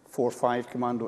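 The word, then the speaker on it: 45 Commando: As it happens, it was the night between 11 and 12 June when my unit, which is pronounced “four-five Commando” rather than “forty-five Commando”—there is no explanation; that is just what it is known as—conducted an attack.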